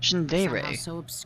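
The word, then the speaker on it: Shindaerey: on shin dairy peak shin dairy that's how you say it people don't believe it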